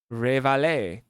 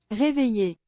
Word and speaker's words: réveiller: Révaler. Is that right? Révaler, French. Oh. Réveiller, Réveiller réveiller, is wake up.